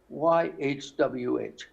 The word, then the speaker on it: YHWH: So YHWH is not Yahweh, which has two vowels in it, Ah and Eh. It's not Yehovah, which has three vowels in it. It's not. It's just YHWH.